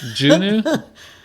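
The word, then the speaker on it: Juneau: Juno.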